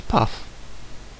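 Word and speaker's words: paw: Example: path, meaning a peacock, is pronounced, quick look at the table above, as path, with a clear f sound at the end.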